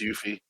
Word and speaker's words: Yuffie: been saying it wrong it is it is yuffie it is yeah um but no that's maybe